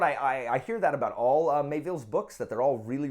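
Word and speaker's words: Miéville: So next on the list is Boosh, Perdido Street Station by China Mayville. Is that how you say it? I always want to say Melville, like he's related to Herman, but he is not.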